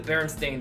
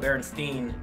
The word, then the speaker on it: Berenstain: know how to talk we always called it Berenstein instead of Berenstain even though it's spelled Berenstain I think it's just because we're